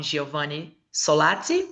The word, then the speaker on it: Giovanni Solazzi: With everyone here, and welcome Giovanni Solazzi, we say? Yes, Yeah. perfect pronunciation.